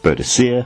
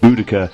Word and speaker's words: Boudica: find it of course there are two pronunciations of her name Bia which is what I was taught in school and budaa which has become more and more prevalent in in recent years however you say her